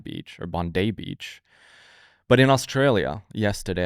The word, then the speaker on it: Bondi: happened in and I've been told I was pronouncing it wrong. It's not Bondi Beach, it's Bondai Beach or Bondai Beach.